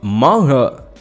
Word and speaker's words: manhwa: I've started reading some manhwa.